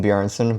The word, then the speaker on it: Bjarnason: Coach Greg, in today's video, it's a Natty or Not on Jason Bjarnason. It's pronounced Jason Bjarnason, but Bjarnason, it's close enough.